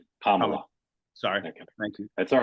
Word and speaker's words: Kamala: and non- hectoring way how to pronounce the vice president's name it's Kamala like the EXP like the punctuation mark Kamala sorry thank you that's